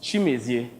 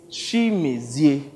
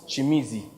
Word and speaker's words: Chimezie: Same here, Chimezie, but please, just call me, okay? All right, it's Chimezie.